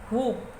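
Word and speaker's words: whoop: हुप, इसमें W silent है ओ पे हुप, हुप के पहले डब्ल्यू लगाया तो हुप डब्ल्यू साइलेंट है ना।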